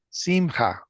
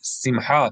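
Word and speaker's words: שמחה: Simha. Right. Simha.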